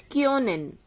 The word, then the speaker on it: können: Like how we make a sound of K-Y-O. Only you have to imagine that it has a sound of K-Y-O. Kyo.